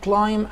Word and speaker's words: climb: بعد كده عندي تتسلق جبلا يعني climb a mountain، climb a mountain. عندنا البي سايلنت، البي سايلنت هنا الكلمة آخرها ام بي، فالبي بتكون سايلنت، زي كلمة لام مثلا خدناها قبل كده، لام يعني خروف صغير.